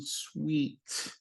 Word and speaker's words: suite: Notice the pronunciation sweet. It sounds like candy is sweet, but it's spelled differently.